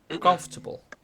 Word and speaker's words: comfortable: Eh, y lo importante es que sepan es que está the stress, el acento, está acá. Comfortable, ¿ok?